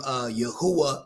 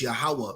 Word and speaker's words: Yahweh: Now they got the name Yahuwah, but it's Yahweh.